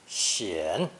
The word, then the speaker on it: 显: Pronounced third tone, 显.